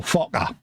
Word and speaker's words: Fokker: looking at the screen, trying to pronounce this correctly, we got a little Fokker.